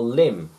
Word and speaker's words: limb: you're getting small crumbs on you crumb or limb limb like an arm or a leg after